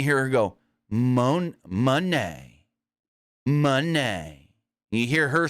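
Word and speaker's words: Moné: of seven now we got to talk Mercedes Monee and I keep saying it purposely because including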